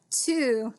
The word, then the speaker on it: two: be very very careful that two the W's silent all right last one